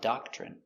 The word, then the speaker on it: doctrine: Their rules are a doctrine. Pronunciation, doctrine. d d a da k doc ch doc ch Remember when you have t r together, it makes the chicken sound, ch.